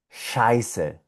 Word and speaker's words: Scheiße: Esto se pronuncia Scheiße.